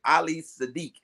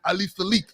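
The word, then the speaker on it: Ali Siddiq: You said Ali Sadiq. I'm like, who? I said Ali Sadiq. No, you didn't put no D on my name. Man, first of all, Ali. You didn't hear the symphony behind you. Bim, bim, bim, bim, bim. Ali Sadiq. It's Ali Sadiq. SIDDIQ. I will spell it.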